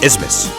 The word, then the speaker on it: Isthmus: Yes, that's really how you pronounce it, Isthmus.